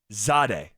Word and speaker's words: Jahdae: And when it comes to Jahdae Barron, the pronunciation guide has his first name being said like this: Z-H-A-Day. Zade. Told you. Jahdae Barron.